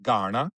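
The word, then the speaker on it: Kaurna: Nalu Tampinti Garna means Garna, K-A-U-R-N-A, pronounced Garna.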